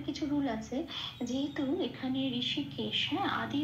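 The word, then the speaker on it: হৃষীকেশঃ: এইবারে এই যে ঋষিকেশ, তাই এই ঋষিকেশের শব্দটার সাথে আমরা অহ এরকম একটা উচ্চারণ করি, সেই জন্য আমরা এখানে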